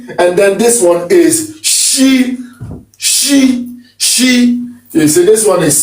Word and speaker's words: Ṣ: Okay, you pronounce it almost in the same way as if you were trying to tell somebody to be quiet. It's shh, it's she.